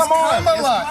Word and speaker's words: Kamala: It's Kamala.